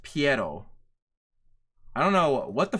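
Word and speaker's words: Pierrot: a video um tomorrow by the way it's pronounced PTO I don't know what the fudge people are pronouncing it perro or whatever the fudge PTO is the animation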